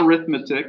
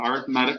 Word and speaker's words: arithmetic: If you look at the next section, we're going to do what's called arithmetic sequences, not arithmetic. It's pronounced arithmetic when we're talking about sequences.